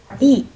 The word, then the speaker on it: subtle: Subtle. And be here. You do not have to pronounce. You only pronounce this word like stutter.